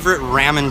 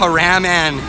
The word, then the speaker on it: ramen: ramen joints.